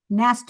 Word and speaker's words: Knast: Nast. Nast with a K silent.